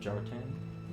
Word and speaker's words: Kjartan: I wouldn't say silent K, like Jartan. And then it's the H with the AE that are merged together, which is well beyond my capacity of understanding how to speak those words.